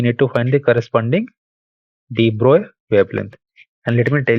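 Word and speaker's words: de Broglie: volt thus we need to find the corresponding Deep Roy wavelength and let me tell you again this is not called de brogli but it is pronounced as Deep Roy so Libra wavelength would be H by p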